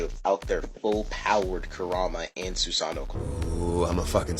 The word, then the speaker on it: Susanoo: On that same page, Sasuke tries to find with his Susanoo, which is the proper pronunciation of that word, by the way, immediately